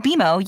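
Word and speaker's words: BMO: more common than you think but we actually pronounce it beo as in with bimo you can earn a cash reward every month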